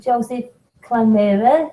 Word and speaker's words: Joseph Klimera: So we're live, and I'm talking tonight with Joseph Klimera, who has a YouTube channel. Did I pronounce that right, Joseph?